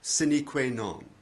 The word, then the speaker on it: sine qua non: Exceptions are a few foreign phrases like the legal term sine die, the Latin for without a day, meaning without a day appointed for resuming a postponed trial or other matter. Another is sine qua non, which means something essential, literally, without which not. It sounds strange if you don't know Latin.